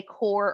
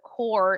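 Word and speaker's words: coir: as the coconut viers also that has uh two different pron pronunciations so some people call it core and some people call it coyer it just depends on what part of the country that you are in so a lot of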